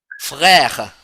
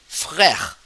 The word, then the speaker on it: frère: So how you pronounce this word become frère, frère. So A sound become frère. So accent grave makes becomes A.